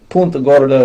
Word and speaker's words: Punta Gorda: People came down here that didn't speak Spanish, saw it on the charts, and just anglicized the name. So Punta Gorda is how it's said. Punta Gorda is the Spanish name, but if you're from here, you call it Punta Gorda.